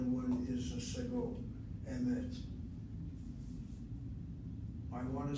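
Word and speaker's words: אמת: And a good example is the word emet. Notice how the word emet, the word for truth, is spelled. Under the aleph is a chataf segol. The word emet is not a seglet noun. It's not emet, two segols. It is one chataf segol and the other one is a segol, emet.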